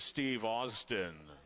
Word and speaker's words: Steve Austin: And ladies and gentlemen, we just received word that the correct pronunciation of the one horse is Steve Austin.